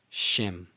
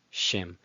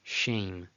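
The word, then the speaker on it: שֵׁם: It's pronounced before the consonant. So it's not nocha, nocha, it's noach, noach. Next. Shem, Shem.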